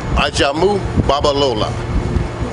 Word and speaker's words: Ajamu: Ajamu Babalola. Can you spell that?